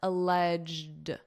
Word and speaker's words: alleged: We have a G, so we just want a very soft D sound alleged, alleged, alleged, alleged illegal retention by using the adjective alleged.